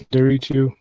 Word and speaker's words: Nderitu: It's Nderitu. What's that? It's my name is Dennis Nderitu. The N is silent.